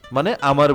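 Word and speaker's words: mon ami: হচ্ছে plus noun মনামি মানে আমার বন্ধু ম এমনও এন এষেত্রে উচ্চারণ ম আর আমি উচ্চারণ এমই আমি মন আমি মানে আমার বন্ধু মন আমি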